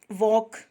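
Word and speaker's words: walk: वॉक, L कहाँ गया?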